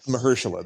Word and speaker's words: Mahershala: Like he's somebody, Mahershala, that's it. I always mispronounce his name.